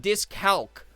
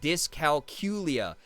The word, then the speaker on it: dyscalculia: Oh, it's not dyscalc, even though that's like technically how it's spelled. It's like dyscalculia.